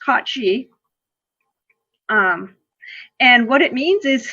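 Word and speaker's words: Cait Sìth: the Koch G now it's got two different spellings one is one is Irish and one is Scottish but they're both pronounced cauchy and what it means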